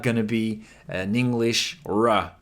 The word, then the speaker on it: ら: So either close to a rolled R, like they do in Spanish or Italian, a trilled R, or an L sound, but don't pronounce it the English way.